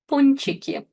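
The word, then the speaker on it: пончик: In this combination n before ch n is pronounced soft.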